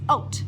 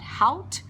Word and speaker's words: haute: And next word is oat. I'm pretty sure most of you have already seen this word. Pronunciation is not hout, is not hot, is oat.